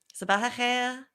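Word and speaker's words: صباح الخير: Sabah khair. Is that right? No, say it. You have to pronounce the R at the end. Sabah khair.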